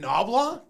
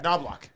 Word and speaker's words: Knoblauch: Chris nobl uh noblock are you calling him nobl yeah there's a there's a CH that you pronounce it yeah noblock okay noblock I thought